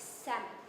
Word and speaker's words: salmon: the reality for me another weirdly pronounced dish is salmon why have an l in the middle of it if you're not going to say it the same can be